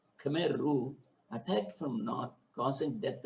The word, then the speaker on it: Khmer Rouge: there is spelt khmer rouge actually it is pronounced as khmer rouge khmer rouge attacked from north causing death of almost a